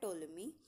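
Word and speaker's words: Ptolemy: Then टोलमी। देखिए, वैसे तो पी लगा है लेकिन पी साइलेंट रहता है, तो इसे हम बोलते हैं टोलमी, जो कि एक रोमन जोग्राफर और हिस्टोरियन थे।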